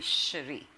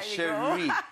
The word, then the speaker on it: Cherie: But I hope from here on they'll realize it's actually Cherie. Diba? Cherie.